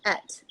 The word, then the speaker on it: Ett: Is it pronounced Eat? I believe it's called et. Et. Sorry, That is the Et. way I pronounced it. Yes. And Et, what it stands for? What? It means one in Swedish.